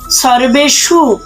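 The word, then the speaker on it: সর্বেষু: উচ্চারণ করব অয়নেসু সর্বেশু আমরা জানি যে সংস্কৃত উচ্চারণের ক্ষেত্রে দন্তস এর উচ্চারণ ছয় এর মত করতে হয় বাকি সম্পূর্ণ ঠিক আছে আবার কেউ যদি রেপটাকে ভাঙ্গিয়ে লিখতে চায় তবুও কিন্তু হবে তবে মাথায় রাখতে হবে যে মূর্ধন্য এর উচ্চারণ শুদ্ধ স এর মত হবে সর্বেসু এবার আসি যথাভাগ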